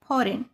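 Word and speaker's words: foreign: फॉरेन में भी एन के पहले जी आया है। तो जी साइलेंट हो गया। इसको क्या बोलेंगे? फॉरेन।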